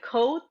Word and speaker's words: Coatl: SC so SC so kind of like coat but the a is a little different so it's co okay Co is that